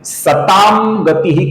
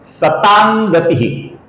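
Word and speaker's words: सतां गतिः: घ और न ये ये जो म है दोस्तों इस न अक्षर का उच्चारण हम इस म की जगह पर करेंगे। अर्थात ये सतामंग गतिह की जगह पर सतांग गति ऐसा उच्चारण होगा दोस्तों जो कि सही उच्चारण है।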